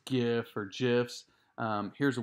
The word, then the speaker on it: GIF: gem just gin so it's called a soft g kinda like jiff like the peanut butter but jiffy cat so